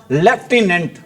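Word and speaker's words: lieutenant: सा वर्ड है अी लेकिन आपने इसकी स्पेलिंग को याद रखना है अभी कैसे याद रखना है अी लू लूटी नेंट इसकी स्पेलिंग को याद रखना है अी कैसे लूटने इसको बोलते क्या है अी लेफ्टिनेंट एक पोस्ट होती है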